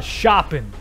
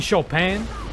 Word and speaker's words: Chopin: up we got the shopping you mean chopin no not shopping they didn't want us to say it like that they wouldn't uh they would have spelt it that way you know oh